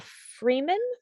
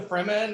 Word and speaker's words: Fremen: And also something they have coming up, which is called Arrakis Dawn of the Freeman. Yeah, Fremen. Yeah. They spell it wrong. They spelled it wrong in the article.